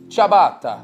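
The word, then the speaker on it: ciabatta: go about pronouncing it with a typical Italian pronunciation the way they would say it in Italy chab chab chabata all right so instead of saying I'm saying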